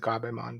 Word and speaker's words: Gerbemon: Garimon, who I mean it's spelled Gerbemon, but I'm just gonna pronounce it Gabemon because that's Yeah. how it's pronounced in Japanese, and they just I don't think know how to transliterate or Yeah.